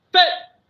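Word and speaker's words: phat: So that's your main Tibetan dispelling, and it's pronounced Phet, just like that, right?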